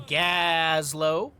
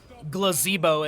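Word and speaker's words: Gazlowe: Right side of Battlefield, RossPierrDoll, Zio playing Gazlo, Glazebo, as I mispronounced when I first started playing this game.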